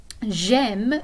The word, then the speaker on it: j'aime: So j'aime is like je aime, but it would be awkward to say that.